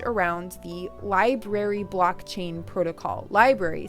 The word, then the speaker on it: LBRY: Library spelled LBRY. Odysee, by the way, is spelled ODYSEE.